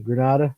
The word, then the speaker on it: Grenada: the light gets you know and I imagine Granada am I pronouncing it right as a grenade yes people say Grenada people I mean I think eventually it's gonna